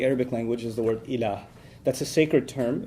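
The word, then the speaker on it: إله: La ilaha illallah, in which there's the term ilah.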